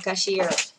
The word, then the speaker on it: cashier: Nếu các bạn đang làm thu ngân, các bạn sử dụng từ cashier. Cashier, trọng âm ạ, từ thứ hai nhá.